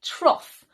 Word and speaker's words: trough: Another example with the off pronunciation could be trough, which is a long, thin container which is usually used to feed farm animals.